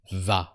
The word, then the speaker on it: vas: And you go for the singular you is tu vas. And don't forget the automatic silent S that always comes with tu.